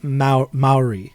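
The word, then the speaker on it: Māori: we think about this is that how you pronounce that i do not know probably not most likely not it's it's maori okay maori okay thank you for correcting me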